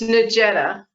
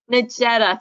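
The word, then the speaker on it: Nejeda: ellen and please say how i'm supposed to pronounce the name of the camp it's negeta nagetta thank you so we're ready huh we're ready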